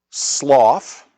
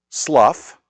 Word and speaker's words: Slough: Sloth or to rhyme with tough, it can be slough. Or it can even be transl. So, it can be the slew of despond, the sloth of despond, or the slough of despond.